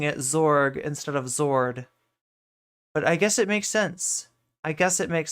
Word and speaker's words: zord: And lastly, in version five, which is supposedly the correct zords, they're called zords. They're not zorg. It's a zord.